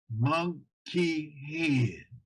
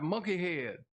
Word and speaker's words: Munkihaid: And you have to pronounce it the way it's spelled. You have to pronounce it phonetically. Munkihaid. That's right, Munkihaid.